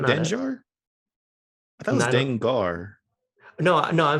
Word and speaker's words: Dengar: I thought you pronounced it as Dengar, and I'm like, that doesn't sound right.